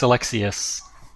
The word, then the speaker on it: Alexiuc: Stefan excellent so elects you is that pronounced Alexi closed its Alexius Alexius okay Alexius yes sir is